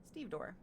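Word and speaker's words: stevedore: The emphasis is on the first syllable.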